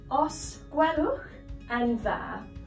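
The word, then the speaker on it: Os gwelwch yn dda: It actually just means please, and it's pronounced Os Gwelwch and Dda.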